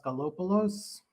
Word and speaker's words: Daskalopoulos: who i am uh my name is anastasios galopolos it's pronounced like it's spelled um i've been doing software testing and quality assurance since 2003.